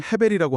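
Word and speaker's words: הבל: 흥미롭게도 히브리어로 아벨, 발음상 헤벨이라고 하는데요.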